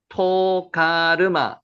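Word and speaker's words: תוגרמה: 보갈마라고 한글에 번역되 있는 히브리 원문을 읽으면요. 토가르마 이것이 짓겠죠? 토가르마 토가르마라고 토가르마 토가르마 그래서 여러분 보실 때 히브리 원문을 이렇게 읽는 걸 두려워하지 마세요.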